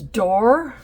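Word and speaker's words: Doré: another one called Rose door and it's spelled D o r e but it's pronounced like d o o r and maybe it's French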